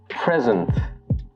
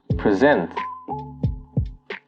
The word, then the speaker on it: present: The noun usually has the stress on the first syllable, while the verb has the stress on the second syllable. So examples would be present and present, contract and contract, object and object.